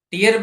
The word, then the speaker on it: tear: ટીયર પણ છે અને ટેર પણ છે. બટ meaning will be changed if you change the pronunciation.